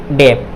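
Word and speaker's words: debt: ये B silent होगा, टी से पहले क्या है, बी है, तो बी क्या होगा, ये साइलेंट होगा, तो क्या हो जाएगा, डेट, क्या हो जाएगा, डेट।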